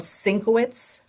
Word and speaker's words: Szynkowicz: And again, it's called Sinkowitz, but it's spelled phonetically for my name, and it's under OBBM Network TV.